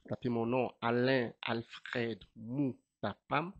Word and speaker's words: Moutapam: Alors pour me trouver dans les réseaux sociaux, on taper mon nom Alain Alfred Mapam. Mapam s'écrit M O U T A P A M.